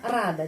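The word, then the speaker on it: радо: senang ya Ano Ano rada di sini O Tapi bacanya a karena penekanannya di sini Bil an rada terus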